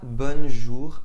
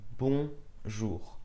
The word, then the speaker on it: bonjour: Ce n'est pas bonjour mais bonjour.